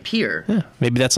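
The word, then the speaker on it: Pierre: I hear what cap some Pier I think it's pronounced well maybe that's like that's right Pier yeah maybe that's like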